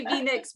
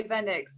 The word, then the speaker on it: Venyx: no i say that i sorry i say v-necks but some people say venice so it's fine you can say no it's